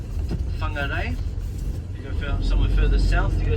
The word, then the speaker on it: Whangarei: So if you go further north, you go somewhere like Whangarei.